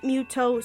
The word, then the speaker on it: Mytho: So anyway, because of Muto, pronounced Muto, spelt Mytho, doesn't have his heart, he is now a hollow shell of himself.